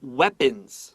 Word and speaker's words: weapons: Many members design many members design their own armor and weapons. 哇，好酷哦！所以所有的成员呢，他们都可以自己去打造出他们的这个盔甲啦，或者是他们这个武器呀。好，可以想象一下，你看，如果说今天你要去扮演以前，比方说像是《三国志》里面角色，我自己弄了一个方天画戟，哇，好厉害，好酷哦！你不觉得很厉害吗？ I think that's pretty special. Remember, with weapons, EA is short E.